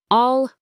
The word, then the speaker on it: I'll: The first word I'll is a contraction of I will. It is very quick and sounds almost like all. All all.